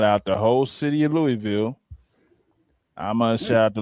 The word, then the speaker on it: Louisville: I'm shouting out Louisville Slugger, the Louisville Zoo. First of all, it's Louisville. Like I said, it's not Louisville.